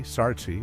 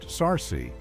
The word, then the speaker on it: Sarsi: The name Sarsi Sartzi or Sarsi pronounced Sarsi is thought to mean not good.